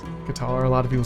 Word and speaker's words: Qatar: next one guys is cutter or Qatar however you want to pronounce that pretty sure it's Qatar a lot of people